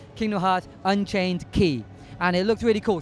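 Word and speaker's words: Kingdom Hearts Unchained χ: do with Kingdom Hearts the new mobile game Kingdom Hearts Unchained key is coming out North America remember how the pronunciation of that because that's important it's pronounced Kingdom Hearts Unchained key and it looks really cool so I hope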